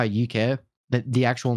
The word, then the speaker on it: Yookay: and i did um and that's that's how uk that the actual name came around nice i